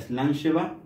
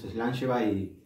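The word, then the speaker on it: slàinte mhath: que venga a eric o se pronuncia slam lleva y nosotros siempre todos los encuentros del club cuando terminamos levantamos la copa y decimos slam se va a ir y brindamos gracias a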